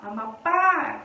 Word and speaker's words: Amapá: Qual é a sílaba forte da palavra Amapá? Amapá é o pá. Última sílaba.